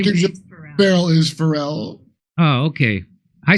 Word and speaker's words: Pharrell: Isn't there a musician called Farrell? Not Pharrell.